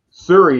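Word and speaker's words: Syuri: pronunciation at number seven siri is how i would pronounce it s-y-u-r-i did i say that right yeah oh yeah that's it right oh you've been rubbing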